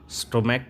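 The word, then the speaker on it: stomach: जैसे मोनार्क का monarchs, स्टोमैक का स्टोमैक्स। सी एच का उच्चारण क यहाँ पे हो रहा है, इसलिए सिर्फ एस का प्रयोग करके प्लूरल बनाते हैं, ठीक है।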